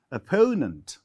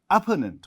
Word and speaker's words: opponent: is written as opponent so stress falls on the second here stress falls on the first sybles here stress falls on second syllabus opponent we don't say opponent we say opponent so stress on the